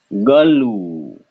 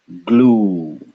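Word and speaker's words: ग्लू: This is galu, galu. But now we get rid of Ugly Duckling and we can say glue, glue.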